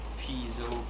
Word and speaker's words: piezo: This has been refitted with an amplification that I rarely use because I do not like piezo, which is the original pronunciation. It comes from ancient Greek, and also modern Greek